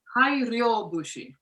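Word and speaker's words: 大漁節: It's a fishing song, and pronounce it for me in Japanese, please. Hai Ryobushi.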